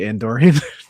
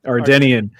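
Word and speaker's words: Ardennian: The Andorian. Did I say it right that time? No. Ardenian. Ardenian.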